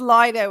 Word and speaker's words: Lido: Ian Leo, it's pronounced Lido in England.